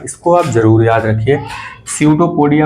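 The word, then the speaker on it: pseudopodia: आप जरूर याद रखिए सूडो पोडिया पीस में साइलेंट है बाकी स्पेलिंग बहुत सिंपल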